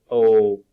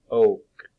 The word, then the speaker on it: oak: Now, this is the long O sound. So it's oak, oak, oak.